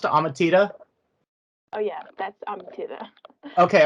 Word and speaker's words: Amatida: so i'm here with now is your name pronounced ahmatita oh yeah that's um okay i want to